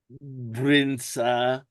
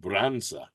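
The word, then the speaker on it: brânză: Brinsa. It's a type of cheese. Again, probably Romanian. And the Romanian that I found didn't say brins. It said bronza. B r an n za.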